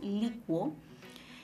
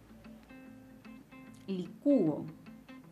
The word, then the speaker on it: licúo: Pero también se puede pronunciar como licúo. Licúo. Y en ese caso la vocal cerrada lleva la mayor fuerza de voz.